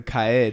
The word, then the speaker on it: Kaid: So Kaid is technically the correct pronunciation of his name.